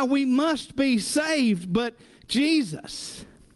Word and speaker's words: Jesus: be saved but Jesus what's funny is that's not how you pronounce his name but Rose of any other name right still smells as sweet the the Yeshua would be the Aramaic version Asus would be the Greek version but then the Germans